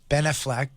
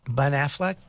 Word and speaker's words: Ben Affleck: they're not they use it with Batman uh Ben Affleck right he's in it I don't think that's how you say it Ben Affleck there you go you know what benefit I